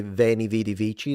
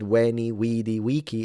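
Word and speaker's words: veni vidi vici: They didn't say venichi. They said weni widi wiki.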